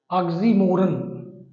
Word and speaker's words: oxymoron: मैं हिंदी बता रहा हूं, उच्चारण आप इसको ध्यान में रखेंगे। ऑक्सी ऑक्सी मोरन, इसको बोलते हैं ऑक्सीमोरन।